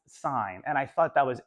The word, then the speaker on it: sine: sign spelled that way it looks like sin oh no it's it's it's pronounced sign and I thought that